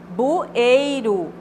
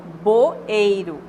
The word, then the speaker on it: bueiro: lh e não cabeçario bueiro e muitas pessoas falam boeiro não é boi ué bueiro é com o mesmo então aí Geralmente